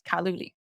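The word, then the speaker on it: 卡路里: And example, in Chinese, we pronounce calorie as kaluli.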